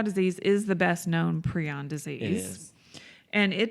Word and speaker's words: prion: prions. Prions. How do you spell that? Preon?